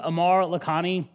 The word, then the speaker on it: Aamir Lakhani: guys uh so uh my name is Amar lakhani uh that is actually how you say my name um you know my